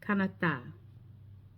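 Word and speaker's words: Canadá: So when you hear the word that we say Canada as the country, they say can like a th sound. So laasa, laapa, panama, canata.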